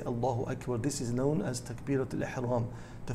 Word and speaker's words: allahu akbar: how do you say you say allahu akbar with the kaff you don't say allah which then makes it into a question is allah the greatest which is something which is of course wrong and we cannot say that some people they say allah akbar they prolonged the long elephant this is also incorrect as it has a negative meaning so the correct way to say it is allahu akbar so what does it